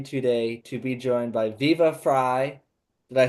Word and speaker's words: Viva Frei: I am so happy today to be joined by Viva Fry. Did I say it correctly? Yep. It's Viva Fry, like half of my last name, Fryheight, which means freedom in German.